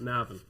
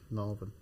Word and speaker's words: Navan: the land definitely not Navan Navan um no r in it just now like sat Navan well you just said it wrong you said never no I'm just tell